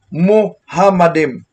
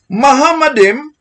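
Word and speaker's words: מחמדים: Heku malarkin wakulo Mahamadim. Saan ngayon ang sinabi niyang Muhammadim? Napakalinaw. Mahamadim, pero ginawa niyang Muhammadim.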